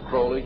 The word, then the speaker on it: Crowley: learned about was Alistair Crawley he likes to BR have his name pronounced Crowley to rhyme with holy and uh the Satanist